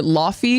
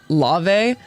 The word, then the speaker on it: Laufey: client, he also taught, a lot of people call her Laufey because it's spelled that way, but I think it's pronounced like Lave.